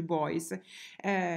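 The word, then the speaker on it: Beuys: si chiama joseph poi scrive in modo molto difficile boys e per cui ben y s e si legge boys l'opera si intitola la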